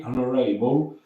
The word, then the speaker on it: honorable: Darling was frightfully proud of her, but he was very honorable and honorable. No H devi mangiare, non c'è H pronuncia.